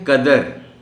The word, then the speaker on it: قدر: ہمیں احتیاط برتنی چاہیے۔ اب یہ ہے قدر، کاف پر زبر، دال پر زبر۔ اس کے معنی ہیں